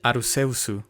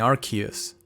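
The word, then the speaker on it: Arceus: any vowels in between the name of the Pokémon god in Japanese is pronounced as arusu which would favor the arus pronunciation but apparently we have a winner in archus the most difficult shiny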